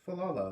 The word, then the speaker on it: Falala: Miss Falala lived in that house. Fa-la-la is how you say her name.